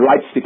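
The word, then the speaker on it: Leipzig: I've got one in in Leti or lightstick as as as the Germans pronounce it I've got one I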